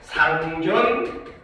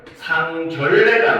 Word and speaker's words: 상견례: 바로 상견례를 하는데 얘는 발음을 하면은 상결례가 아니라 상견례 결례를 취하면 안 되겠죠, 그렇죠? 결례는 예절에 어긋나는 거니까, 그치? 그래서 얘는 발음이 상견례 이렇게 됩니다.